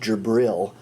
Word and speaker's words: Jibril: Basically, he said that the angel Gabriel, pronounced Jibril, had given him these revelations, and this revelation was known as the Quran.